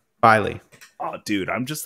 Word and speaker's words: Filey Bay: were the case no it's not filet Bay it is filey is that what that F that's what I said filey oh dude I'm just